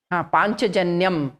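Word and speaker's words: Pāñcajanyam: Panchajanyam. There is Panchajanyam. yeah, anuswara over the ya.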